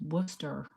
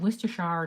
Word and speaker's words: Worcestershire: Oh, you know how we say Worcestershire sauce? It's the correct pronunciation is Worcester sauce. I said Worcestershire to him, and he's like, "Who?"